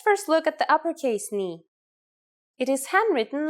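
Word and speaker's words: nu: Knee. Yes. Pronounced just like the knee on your leg. Its sound in Greek is M.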